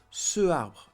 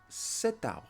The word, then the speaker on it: cet arbre: use ce arbre, because in French language we seldom have two vowels in front of each other because of the pronunciation would be very hard. Ce arbre. No, so here we have to add a T because it's a masculine word and starting with a vowel. Cet arbre.